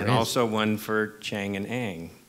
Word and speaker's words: Chang and Eng: So I want to go back to Chang and Eng.